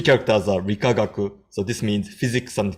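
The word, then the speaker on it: 理化学: So these 6 characters, and so they pronounce the first 3 characters are Rikagaku.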